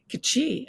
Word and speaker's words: Kji: And we say Kji, and you say G.